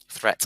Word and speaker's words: threat: Threat and caveat. So the EAT in threat is an et sound, and the EAT in caveat is an iat sound at the end.